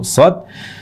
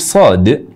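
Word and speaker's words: صاد: yang keempat huruf Shad huruf Shad itu sebenarnya berakhiran dengan huruf Dal jadi salah juga kalau kita membacanya dengan huruf akhir ta jadi kalau kita baca Shad seperti itu berarti kita mengubah huruf terakhir dari Shad yang harusnya huruf Dal ini terubah menjadi ta jadi Shad itu salah juga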